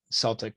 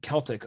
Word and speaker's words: Celtic: The Celtic, Americans pronounce it Celtic, but over in England, they give it the hard K sound. So it would be Celtic over in England.